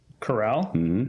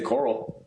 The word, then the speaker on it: Carral: Is that really how you say your last name? That's how you say it. It's English language. Wow. Yeah. glasses there. Say coral. There's two Rs in it.